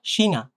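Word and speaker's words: China: বক্স থাকে সেটা হচ্ছে সে আরেকটা দেখেন এইটা উচ্চারণ করেন তো দেখি এই সিনাশিনা সেহা থাকলে সিনা চিনা না বা চায়না না সিনা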